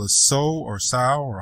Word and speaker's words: SOW: So, well, it's spelled sow like the pig, Mm-hmm. so that's kind of the joke, but, I kind of made it seem like it's pronounced so, like you're sowing the seeds of success, right?